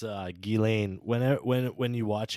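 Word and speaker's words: Ghislaine: i just said it's uh gillane whenev when when you watch anything about her they say her name right now so gotcha it is it's guillain but i'm going to continue to call her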